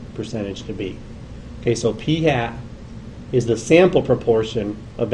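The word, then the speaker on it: p̂: little mark over it we say that or pronounce that as p hat okay we call that p hat not fat p hat okay that's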